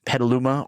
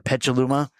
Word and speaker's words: Petaluma: forest nolles and moved to Petaluma or Petaluma depending on where you're from or if you actually know how to pronounce it I apologize but it's